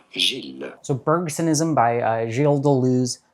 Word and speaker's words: Gilles: and often mispronounced names in French it is actually said as Jill so bergsonism by Jill